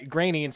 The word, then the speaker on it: Groening: We're calling him Groening because Yes. that's how he prefers it. Yep. I don't know if it's called a preference, if that's just how it's pronounced.